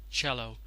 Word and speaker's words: cello: word over here is pronounced as shallow just pronounced as cello it's a sort of a musical instrument very